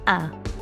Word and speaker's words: à: I'm out of argyle you'll notice that ah or us is spelled with an accent the accent in garlic usually means the vowel is long but here it's used to show that the sound is a nice open ah now I should expect